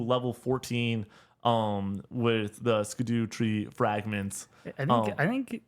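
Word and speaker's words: Scadutree: be called for they wanted to be called Shadow tree fragments oh that which I'm like nope that's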